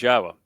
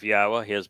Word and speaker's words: Yahowah: know how to pronounce yahwah's name it's the uh yah and the ah are from the verb haa and the o sound comes from Torah so this is not